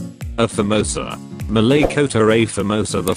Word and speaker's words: A Famosa: The name is often mispronounced A Famosa, even among Malaysians, as though the Portuguese definite article A were the English letter A. A more authentic pronunciation would be Famosa.